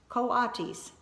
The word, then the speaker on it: coatis: Brisbane said reading from the letter pronounced coatis the coatis looked weird miss Mack looked gorgeous